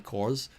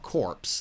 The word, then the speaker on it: corps: with me and the cores and that's about it is that how you say it c-o-r-p-s cores i know it's not corpse the cores i don't know